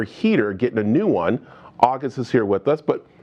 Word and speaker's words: August: pronunciation the right way i'm supposed to say your name just like an hour and a gust in the end so just shorten it out august august how